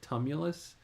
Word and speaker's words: tumulus: gigantic tumulus, Tumulus, or tumulus. Help me out with that word, robot lady. You've got it almost right. The word is pronounced tumulus, and it refers to